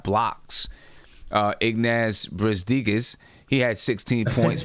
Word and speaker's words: Brazdeikis: Iggy Brazdeikis.